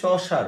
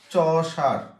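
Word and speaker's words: Chaucer: কি বলছি বলেন তো এই চশার উচ্চারণ কি চসার ঠিক আছে চার উনি প্রথম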